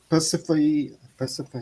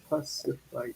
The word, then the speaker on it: Persephone: Persephone. I think there's more. I think there's like 4 syllables. Persephone. I think it's 4 syllables or something.